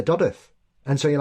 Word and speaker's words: Dodworth: It'll say Dodworth, whereas we say Dodworth. And so you're like, it's a bit posh. Yeah. We don't pronounce it. There's no need for that W there.